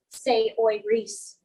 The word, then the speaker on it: Saoirse: I love you like pronouncing Saoirse, say oi Reese.